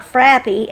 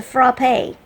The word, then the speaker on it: frappe: And when I got home, it dawned on me that it's not frappy, it's a frappe. Isn't that how you say it?